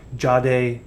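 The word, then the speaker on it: Jadae: a d a e Jade Baron I believe is how you'd say that I'll call him Baron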